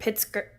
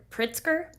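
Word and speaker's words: Pritzker: Pritsker. Pritsker.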